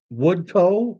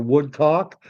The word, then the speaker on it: Woodcock: Sharpless, Janet Woodcoe or Woodcock, but usually I find when COCK is at the end of a name, it's Scottish and it's pronounced Co, Woodcoe.